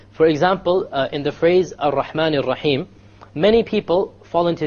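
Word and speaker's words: الرحمن: You cannot allow the tongue to roll. Ar-Rahman is a mistake. Ar-Rahman Ar-Rahim. No rolling. So it is very important when we pronounce the R, the ra in Arabic, we don't say ra, because it is a mistake. Rather, we say ra. One precise ra.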